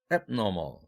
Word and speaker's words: abnormal: abnormal 이렇게 발음할 때는 바로 normal과 대비할 때고요.